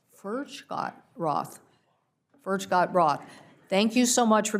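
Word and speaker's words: Furchtgott-Roth: Furgot-Roth, am I saying that correctly? No. Tell me the pronunciation. Furgot-Roth.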